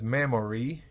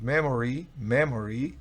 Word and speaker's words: memory: La siguiente palabra es memory. Tengo el from delante porque con ese from significa de memoria, pero si no tiene el from, simplemente es memory. Realmente la O apenas se oye memory, no es memory, no es memory, sino memory.